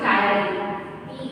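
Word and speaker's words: ptyalin: Name, আরেকটা নাম হচ্ছে টায়ারিন, পি সাইলেন্ট বলে। ঠিক আছে, উচ্চারণে টায়ারিন, কি উচ্চারণ? টায়ারিন। ওকে, পি ইজ সাইলেন্ট, যেমন অনেস্টে আমরা এইচ সাইলেন্ট করে দিই, সেরকমই টায়ারিন।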